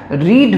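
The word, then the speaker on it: read: ভার্বের third form be রেড তো এখানে পড়া হতে যাচ্ছিল এখানে এটা রিড ভার্বের থার্ড ফর্ম হয়েছে রিড রেড রেড তোমরা জানো যে স্পেলিংটা সেম থাকে শুধু প্রোনাউন্সিয়েশনটা পাল্টে যায় তো এখানে রিড রেড রেড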